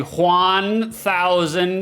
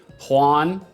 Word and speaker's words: Juan: Juan is the only one who really understands himself. After all, it takes Juan to know Juan. I'm going to go out of my way to pronounce Juan like uh not like one.